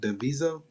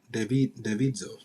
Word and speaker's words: Davidzo: How do you say that? Davizo? Davidzo. Yes, hi. It's Davidzo.